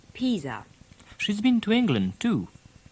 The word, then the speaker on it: Pisa: a little on italy you may be a bit thrown by the french pronunciation of the place names so we'll run through them you can guess which town she calls florence and milan that's milan now what about peas peas that's pisa she's been to england